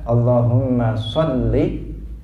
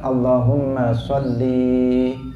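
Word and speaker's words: اللهم صل: kita membaca Allahumma sholli Maka jangan dipanjangkan jangan di wajah Oh ya ini enggak boleh diucapkan Allahumma sholli tidak boleh karena jika ditambah ya maka dalam bahasa Arab itu menunjukkan apa menunjukkan arti perempuan mukhotobah yang dituju itu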